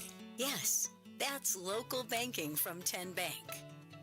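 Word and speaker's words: TN Bank: How do you say the name? Kien Bank? Nope. Kin Bank? Uh-uh. So, what is it? 10 Bank. 10 as in Tennessee.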